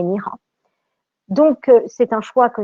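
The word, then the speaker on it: 你好: C'est-à-dire que dans le cas, par exemple, de Ni Hao, on n'aura pas troisième ton, mais on va avoir deuxième ton, puisque c'est en effet ce qu'entendent les élèves et ce que doivent prononcer les élèves, sachant qu'on ne dit pas Ni Hao, mais Ni Hao.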